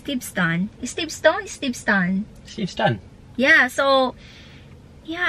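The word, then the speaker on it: Steveston: Steve ston so Alam niyo ba Before I pronounce it Steve stone But He told me that St St is Steve Stone is Steve stun Steve stun Yeah so Yeah I've been Steve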